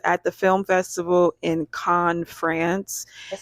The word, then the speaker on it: Cannes: I definitely thought it was Canes. I know. Canes. But you do have two N's, yeah, so that makes sense. It's pronounced Con.